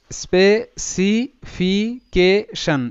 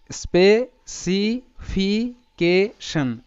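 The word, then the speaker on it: specification: তো আমরা জানি, আমরা কিন্তু ক্লাসে এটা শিখেছি যে TION একটা প্যাটার্ন এবং তার সাউন্ড হয় শন। তো এখানে ফাইনালি যে এর প্রোনাউন্সিয়েশনটা হবে সেটা হবে স্পেসিফিকেশন। এরকম করে তোমরা আমার সাথে সাথে উচ্চারণ করো, স্পেসিফিকেশন, স্পেসিফিকেশন।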